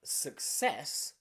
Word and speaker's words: success: consonant in a claim but in words like success success you've got suk suk which is a strong and then you've got ces says because the c is followed by a letter e success so here two different c sounds but in a chord